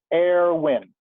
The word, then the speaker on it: Erwin: Yeah, I want to pick up on what you said, Erwin, and am I pronouncing your name right? Technically, it is Erwin.